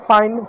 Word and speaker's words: fine: शब्द है FINE, तो एफ को क्या फ पढ़ेंगे। अब देखिए क्या इसके बाद कॉन्सोनेंट हो, कॉन्सोनेंट क्या ई है, तो ई साइलेंट होगा। आई को आ प्लस ई पढ़ेंगे, तो आ की मात्रा लगा दो, ई लिख दो। एन को 9 पढ़ेंगे, हो गया फाइन।